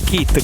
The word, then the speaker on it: Kitt: Lui si chiama Sam Kitt, ma no Kitt come c'ha un nome, no? Kitt si scrive K-I-T-H, questo si chiama proprio Kitt, K-I-T-T, come la macchina di Supercar, cioè di Knight Rider, la serie degli anni